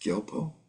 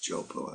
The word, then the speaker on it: Gyalpo: Gyalwa is sometimes pronounced Gelpo in the Lhasa dialect, and Gyalpo and the G becomes like a J in Eastern Tibet.